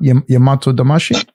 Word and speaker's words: Yamato-damashii: Can I ask you to speak on Yamato-damashii? Because it's a, am I saying that right? Am I messing that up? Yamato-damashii? No, you're saying it good. That's good. That's exactly how it's said.